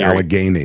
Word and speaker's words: Allegheny: I can't pronounce it correctly, and everyone makes fun of me. I say Allegheny, like Allegheny.